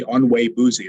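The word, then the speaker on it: Onwuegbuzie: edited with my colleague, Tony Onwe-Buzi is how you say his last name, Nigerian.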